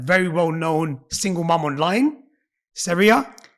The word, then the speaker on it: Saria: well-known single mom online, Syria. How are you? Did I say your name right? Yeah. Brilliant. It just spelled like that. I thought it might be Sarah. Sera. Everyone says it wrong.